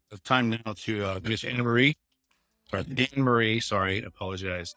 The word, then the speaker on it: Annamarie: The A is silent, everyone. For those who don't know, like myself. Annamarie, tell us about yourself. Likes, dislikes. So you have the floor. Okay, so hi everyone. I am Annamarie. The A in my name is silent. Just don't forget it.